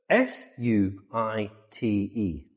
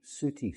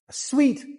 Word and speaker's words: suite: S U I t E. Si. Suti. Si. No, we pronounce it sweet like the snack. Sweet. Chocolate candy. Sweet. suite is a posh room in a hotel.